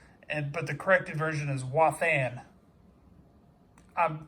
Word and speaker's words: Wathan: That is the error spelling it Watham, but the corrected version is Wathan. I'm phonetically saying it.